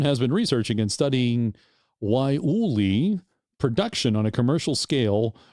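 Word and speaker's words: guayule: say it it is it's spelled g-u-a-y-u-l-e it's pronounced why Uli although it looks like or or for you Stargate sg1 fans out there it looks like I want to say guaulude let's see if I can say this now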